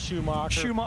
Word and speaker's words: Schumacher: and it was Tony Schumacher right yeah it's pronounced Schumacher okay you can call me six-time World Champ